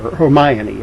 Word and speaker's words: Hermione: like Harry Potter's friends, Hermione and Ron, or Hermione, I think is the actual pronunciation, and Ron.